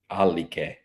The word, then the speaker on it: Alleghe: Can you pronounce that for me? Alleghe.